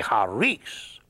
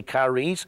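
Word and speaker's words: χάρις: a r i s now the Greeks don't say it like that they drop the sea and they say hares and hares or we English speakers we would say kares that's where we get our word Charisma from or even the word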